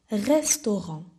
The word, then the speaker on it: restaurant: Le restaurant. the restaurant. I know that the R is a bit tricky for you. You can pronounce the restaurant, but try to say r, like a small cat.